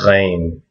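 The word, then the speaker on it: غين: This is a GH sound. So it's gh. It's not the same as a kh. So it's not the same as a kh. It is not this.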